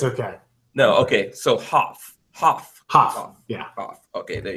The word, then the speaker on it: Hopf: And Lola, Lola just got here and she's chastising me because the P is silent, Lola says, apparently. So you could have corrected me, Michael. Get it right, man. It's okay. No, okay. So Hopf.